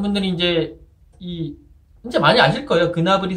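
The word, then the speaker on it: Gnabry: 그나블이 선수가 그나블이라는 거. 저도 예전에는 그냥 나블이라고 썼는데 그게 아니라 그나블이라는 거. 이게 사실 코트디부아르 아버지 이제가 있기 때문에 코트디부아르는 이 프랑스어를 쓰거든요. 프랑스어 발음으로 읽으면 세르주 나브리 뭐 이렇게 돼요. 맞나? 세르주 나브리 뭐 이렇게 되는데 이 본인이 이게 이제 독어 쪽으로 가면 그나브리 가는 거고 본인이 자기 이름을 이제 어떻게 발음해야 되냐는 질문을 받고 나는 그나브리라고 쓴다.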